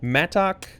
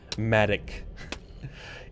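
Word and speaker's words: Mattock: It's the pronunciation M-A-D upside down E-K. Matic. Interesting. Okay. Well, that's good to know. Not a Matok. That's like awkward to try to pronounce.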